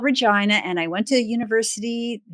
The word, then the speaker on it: Regina: from a place called Regina. And yes, Regina rhymes with vagina, so it was destiny. But I'm from a place called Regina, and I went to